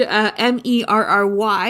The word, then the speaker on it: merry: the word M-E-R-R-Y is pronounced the same as Murray, M-U-R-R-A-Y.